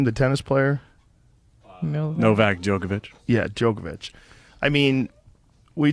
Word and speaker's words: Novak Djokovic: Novak Djokovic.